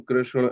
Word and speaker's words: Krishna: The real words are Ram, Krishna, and Karna, like that.